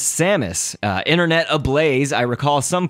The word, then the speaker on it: Samus: Now, you hear me pronouncing her name, of course, like Samus, but her name has even been pronounced differently between a few of the Smash Bros. Games, by the announcer and some others. In Melee, I believe they pronounce it how I do, which was Samus, and I think in Brawl it was, the announcer says Samus.